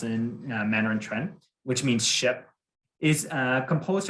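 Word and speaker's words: 船: Similarly, Jonah pointed out how the Chinese character quan, pronounced in Mandarin quan, which means ship, is composed of the characters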